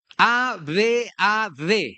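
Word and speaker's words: עָבַד: en hebreo es abat a b a d, ¿verdad? Abad con acento en la a.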